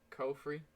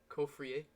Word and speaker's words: Caufriez: Caufriez, Caufriez, as he pronounces it himself, or Victor Moses?